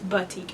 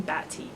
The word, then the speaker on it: boutique: want to look stupid and it's btik I was saying batik batik is um an